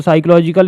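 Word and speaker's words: psychological: सो साइकोलॉजिकल यहां पे piece P silent है।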